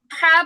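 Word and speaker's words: ح: জিম জিম তারপরে হা বলার সময় গলার মাঝখানে অবশ্যই হালকা চাপ লাগবে একা একাই চাপ লাগবে ধরে দিতে হবে না হা চেষ্টা করব আমরা খেয়াল করব গলার মাঝখানে হালকা চাপ লাগবে একটা পিওর একটা উচ্চারণ বের হবে হা হা ওকে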